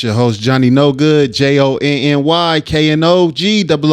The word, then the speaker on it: Jonny Knogood: It's your host, Jonny Knogood, JONNY, KNOG, O and add a D. Lite Pole. The I-O is silent.